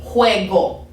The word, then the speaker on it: juego: And then if I want to hear that soft or the hard G sound, that's going to be juego, go, okay?